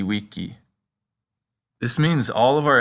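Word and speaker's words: vici: And the letter V is pronounced like a W, so it's weni weedy wiki.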